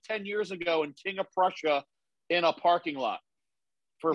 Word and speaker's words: King of Prussia: were you doing in queen of russia oh stop saying it say it right king of prussia even rl knows it's